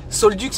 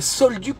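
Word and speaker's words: Saulx-le-Duc: Solduc, là normalement la commune de Solduc, ça s'écrit S-A-U-L-X, plus loin le, plus loin Duc.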